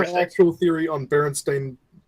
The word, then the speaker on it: Berenstain: And then you read the book, blah, blah, blah, Berenstain, you never realizing that there was an A there the entire fucking time and you weren't saying it right.